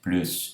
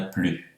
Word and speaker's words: plus: Vamos começar comentando os casos bem comuns da dúvida em relação à pronúncia de plus e tous, se pronuncia ou não S.